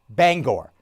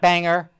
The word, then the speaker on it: Bangor: i worked in maine you pronounced the name bangor not banger okay bangor very simple very very particular about that my friend tim throckmorton